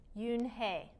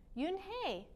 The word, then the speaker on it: Unhei: turned to joey she nodded slowly yes it's pronounced yoon hey and it means grace mr kim added yoon hey joey said slowly and this time perfectly it